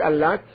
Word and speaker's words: Al-Lat: Now, with the second type of recitation, without intensification on the ta, al-lata, now, light pronunciation, then in this case it is derived from Allah or from al-ilah.